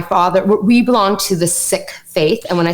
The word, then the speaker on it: Sikh: everything in society, including words and language and pronunciation. Right. And so Sikh is not the right way to say it. Perfect. Sikh is the right way to say it.